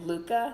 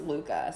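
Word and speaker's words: Lykke: I'll add about that book so she said Luka that's how you pronounce it so it's spelled like like so like totally botched name it's ly ke ke that and that's pronounced Luka so yeah that was they tell you that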